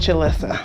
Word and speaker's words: Jalissa: It's pronounced Jalissa. Oh, Jalissa. Yeah. What's your middle name?